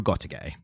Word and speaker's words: Gotouge: Yes, Koyoharu Gotouge. I think that's... You haven't anglicised that too much. That's the overly anglicised pronunciation of it.